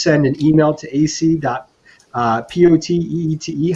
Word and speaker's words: Poteete: So anybody that would like to get in there, please send an email to ac.podcast Poteete. How do you say that last name? AC Poteet.